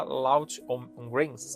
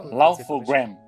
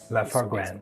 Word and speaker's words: Laugh-O-Gram: E depois ele abriu a empresa, aquela Loud on Grains, é assim que se pronuncia? Laugh-O-Gram. Laugh-O-Gram.